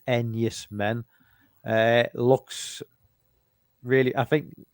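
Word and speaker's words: Enys Men: It's spelled E E N Ys M I N. Two separate words. Nice man. But it reads Enus men.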